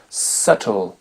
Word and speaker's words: subtle: B on l'entend pas la consonne B ne s'entend pas non plus quand elle est suivie de la lettre T il y a quelques